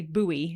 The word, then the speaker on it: buoy: when I'm saying it you know how Americans say buoy instead of boy do they yeah I didn't know that buoy yeah you you might there no like boy like the things that are at Sea boy and SE not buoy